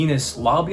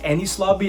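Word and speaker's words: Enies Lobby: Alright, so I know I absolutely butchered the name there. It sounded like I said Penis Lobby, but I believe that's pronounced Ennis Lobby after I watched this YouTube video, so hopefully I'm right now.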